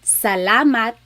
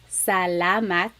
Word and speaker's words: salamat: So the letter A, ah, ah, ah. Not ah and not ah, just ah, ah. So let's practice saying salamat, salamat, salamat. It's not salamat and it's not salamat.